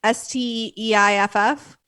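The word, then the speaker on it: Steiff: the and i was gonna look up the pronunciation and i didn't but it's german okay the steve company s-t-e-i-f-f steif okay so that's the company that i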